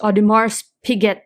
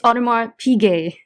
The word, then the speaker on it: Audemars Piguet: He posts videos like someone mispronounced Audemars Piguet, so he stitched that, and this kid saying, look at this Audemars Piguet that I have, and he stitched it, and it's Audemars Piguet.